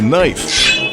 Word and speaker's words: knife: Who invited K to knife?